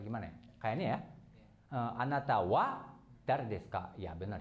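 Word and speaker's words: は: Oke, terus Wa. oke, tadi udah sedikit mikir gitu ya. Oke, jadinya wa gitu ya, bukan ha.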